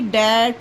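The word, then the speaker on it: that: जैसे कि दैट हो गया। वहां पर भी टी एच ए टी दैट पढ़ा जाता है। टी एच को था नहीं पढ़ा जाता।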